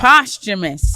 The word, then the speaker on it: posthumous: Postumous.